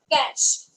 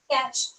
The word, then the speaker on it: cache: what we call it is no it is cash okay very simple it is cash search pronunciations are because of some different rules in